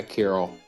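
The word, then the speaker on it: Kiryl: Carol, probably spell it. K I R Y L. Yeah, Carol.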